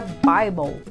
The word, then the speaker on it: Bible: A palavra Bible, por exemplo, tem o E mudo.